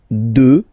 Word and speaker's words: deux: Deux. Final x not pronounced, okay?